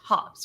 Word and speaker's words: Hobbes: And then when we opened the Sunday comic print, there was a post-it note on there that said Hobbes rhymes with jobs, Oh, nice.